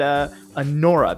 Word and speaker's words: anora: We're going to be having uh No So Cute Boss is one of them, and An Ora, that's how it's pronounced.